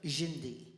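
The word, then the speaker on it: Dindi: And it's spelled D-I-N-D-I because D in Brazilian is J, Jindi.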